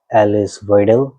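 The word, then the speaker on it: Alice Weidel: तो दोस्तों उनकी एक पॉलिटिशियन है एलिस वाइडल, उसको जर्मनी में वो प्रोनाउंस करते हैं एलिसा वाइडल।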